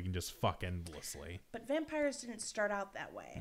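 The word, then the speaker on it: Vampyre: is actually called The Vampire, except it's spelled hotter because they use a Y instead of an I. Vampire, like pyre, like fire.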